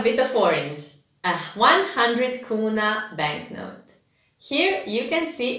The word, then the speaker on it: kuna: So the 200 kuna banknote is brown, and you pronounce it kuna, not kuna, like I did a bit earlier.